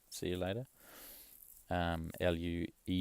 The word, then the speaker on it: luego: Luego, and that's like, if I phonetically sounded, it'd be like luego.